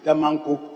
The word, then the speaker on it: Damanko: I've heard the Honourable Minister pronounce Damanko as Damanko. We know we have Damango and Damanko. This is Damanko in the Oti region. So Damanko. So let's get it right.